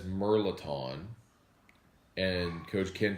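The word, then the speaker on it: mirliton: All right, so Coach Ken, you say Meliton. That's cool. But I'm pretty sure there's an R in there, isn't there? It's like Merlaton is how it's pronounced.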